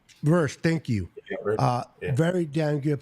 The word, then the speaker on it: Verse: The two guys that are on there from Florida State Seminoles, which I love, number 55, Fisk, and then Vera. I always say his name wrong. Verse, thank you.